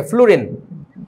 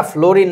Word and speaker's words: ফ্লুরিন: ফ্লুরিন। এই বেটা ফ্লোরিন না, উচ্চারণটা হচ্ছে ফ্লুরিন, এফ।